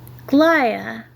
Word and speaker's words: glia: Glia, even though it says it's pronounced glia. Oh, let's try this one. Glial. Yeah, okay, we're going with glia because it says glia right here, not glia.